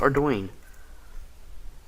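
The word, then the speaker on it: Ardougne: Yes, it's pronounced Ardoyne.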